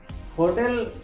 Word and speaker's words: hotel: Hotel and hotel have the same spelling, but the pronunciation is different. In Spanish, it's called hotel.